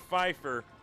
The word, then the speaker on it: Pfeiffer: shotgun formation for scott pfeiffer the p is silent he throws corner in